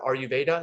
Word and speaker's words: Ayurveda: this type of was it Ayurveda?